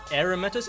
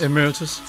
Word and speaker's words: Emeritus: names are John pilo from he is an aramus am I pronouncing that right Emeritus Emeritus professor of physics in mes University is